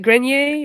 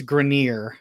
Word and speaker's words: Grenier: which game first podcaster grenier is it grenier is that how you pronounce it that is the correct way to